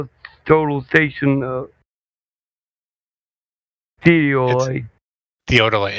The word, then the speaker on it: theodolite: Theodolite.